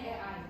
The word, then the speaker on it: AI: atau kalau di eja tulisannya A i tapi kita bacanya Ei.